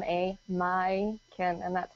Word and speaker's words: Majken: it over here everyone it's a Scandinavian name so you pronounce the J like you do in Bjork so it's m a my can and that's how you